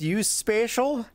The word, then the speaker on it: USPSAECIAL: It's pronounced USPSAECIAL.